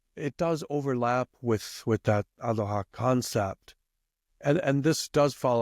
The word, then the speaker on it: aroha: so that aroha, am I pronouncing it more or less correctly?